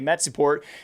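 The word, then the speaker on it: Metizport: And that team name always throws me off because of the spelling versus pronunciation, but I'm just going to say Metsiport.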